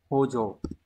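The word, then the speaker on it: 補助: Từ này có tồn tại nhưng mà từ này phải đọc là hojo.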